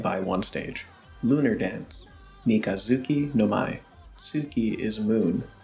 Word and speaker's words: みかづき: Mikazuki no Mai. Tsuki is moon. When putting Mika in front of Tsuki, the combination means crescent moon. The Tsu becomes a Zu because of a concept called Rendaku.